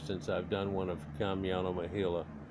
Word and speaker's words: Kamyana Mohyla: over three years since i've done one of kamiano mahila it's spelled k-a-m-y-a-n-a m-o-h-y-l-a you can look in my